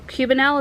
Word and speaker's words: cubanelle: two of the cubanelle cubanelle is how you say it peppers anyway uh prairie